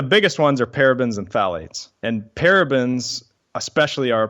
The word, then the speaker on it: phthalates: And by the way, phthalates, it's spelled PHTHALATES, phthalates.